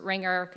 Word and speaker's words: RNGR: We pronounce it Ringer. It goes by other pronunciations.